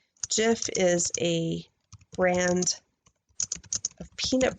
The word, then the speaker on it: Jif: I'm going to say jiff is a brand of peanut butter and is pronounced with a soft G like jelly gif has a hard